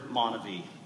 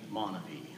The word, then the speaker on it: MonaVie: While others pronounce the word Monavey. For me, it will always be Monavey.